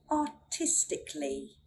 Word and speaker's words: artistically: So the theory, we don't sound out the letter A when it comes before an L-L-Y at the end of a word. For example, artistically, artistically, logically, logically, musically, musically.